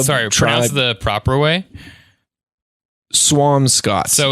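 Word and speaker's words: Squamscott: tried the proper way Swampscott so like a like a swan with an M and then Scott like Michael's so there's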